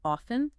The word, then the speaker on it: often: about the pronunciation of often some people pronounce it with a clear T sound While others kind of soften it huh I never thought